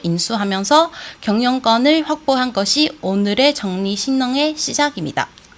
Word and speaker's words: 正力新能: 정리신능 우리 말로는 정력 신능인데 중국 발음은 정리신능이라는 이름은 생수한데요.